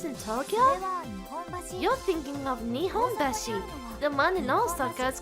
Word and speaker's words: Nihonbashi: You're thinking of Nihonbashi.